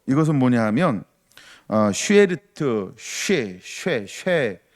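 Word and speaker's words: שארית: 이 남은 백성이라고 하는 거, 이것은 뭐냐 하면 쉐르트, 쉐라는 수에다가 에 발음, 그래서 쉐에리트라는 말인데, 이 말은 어떤 뜻을 가지고 있냐면 나무에 남아있는 부분을 이야기할 때 쓰는 용어.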